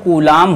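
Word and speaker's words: Coulomb: है गुलाम होता है इसको इंग्लिश में किसी ओए कौन सी ओ एम बी कहते हैं यह क्या तक साइलेंट होता है इसको क्या बोलते हैं बीच साइलेंट होता इंग्लिश वाले बच्चे ज्यादा तेज न कि गुलाम होता है गुलाम नहीं शुद्ध गुलाम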